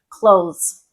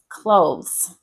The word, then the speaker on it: clothes: Another one would be clothes. So clothes. There is an E in there. We don't pronounce the E. So you're going TH to S, which I know is really difficult for a lot of people.